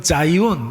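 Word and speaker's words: Zion: 영어로 표기를 하면 지온 이렇게 표기를 하고 발음은 여러분 자이온 이렇게 발음을 합니다.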